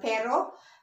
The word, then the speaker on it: pero: We have the pero.